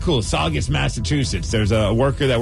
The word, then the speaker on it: Saugus: Saugus Saugus Saugus what no it's saw it's August all right cool Saugus Massachusetts there's a worker